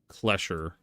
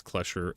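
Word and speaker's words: Clescher: Aberdeen has Klesher and Hathor. Boondoggle. Yeah, Klesher. Aberdeen, ++, Klesher. How do you spell Klesher Vertigo? C-L-E-S-C-H-E-R. Because we have to have that extra S and CH sound in our pronunciation.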